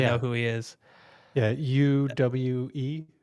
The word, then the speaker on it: Uwe: this director I think you pronounced his name UA ball people in the comments will probably know who he is yeah UWE right yep has has some of the probably